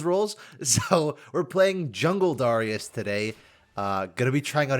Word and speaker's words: Darius: And yes, it's Darius, not Darius. I know that a lot of people pronounce him Darius. I don't get that. It sounds weird.